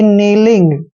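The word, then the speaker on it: kneeling: और जी को ग पढ़ना है यानी कि नीलिंग क्या पढ़ेंगे इसको नीलिंग नीलिंग का मतलब होता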